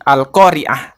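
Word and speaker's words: القارعة: Contohnya seperti al-qoriah itu pakai ain yang artinya hari kiamat.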